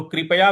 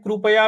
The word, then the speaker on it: कृपया: तो कृपया भी बोल सकते हैं, कृपया भी बोल सकते हैं, दोनों ही सही है। गलत कोई भी नहीं है, ये भाषा की विविधता की वजह से इस प्रकार का उच्चारण होता है।